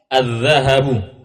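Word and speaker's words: الذهب: atau baju adquu ad azzahabu azahabu azzahabu maknanya emas azzahabu emas azzahab haknya itu pendek semua bacanya azzahabu nanti kalau Hnya dibaca panjang azzahabu itu lain lagi artinya azzahab itu maknanya ee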